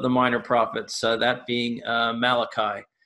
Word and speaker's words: Malachi: Minor Prophets that being Malachi not to be pronounced mulashi this is not an italian prophet in any way the Hebrew prophet and the